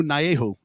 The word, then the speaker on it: Naehu: Arizona Wrangler, EJ Hilliard Jr., quarterback Naehu. Am I saying it right? You did it. Naehu.